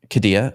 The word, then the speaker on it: Qiddiya: Speaking of dragons, the Qiddiya, how do you pronounce it, Scott? Qiddiya.